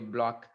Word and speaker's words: Bloch: Okay, so people are pronouncing it, I think, not bloch. I was using bloch in my recording, but it looks like it should be a block.